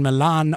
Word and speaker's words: Milan: me 184 7 in Milan Ohio or Milan Ohio however you want to pronounce it um is the stuff